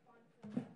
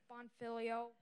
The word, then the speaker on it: Bonfiglio: Also, it's Bonfiglio, not Bonfiglio. Bonfiglio.